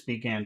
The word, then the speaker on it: began: that's two syllables, began. Which syllable has all of the power? Yeah. Began. Uh, began. Gan Began. is the second.